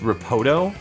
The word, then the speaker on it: Ripot: He's pronounced Ripoto in Japan.